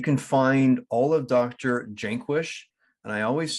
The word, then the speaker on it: Jaquish: It's Jaquish. It's like Jake hyphen wish is the right way to say it.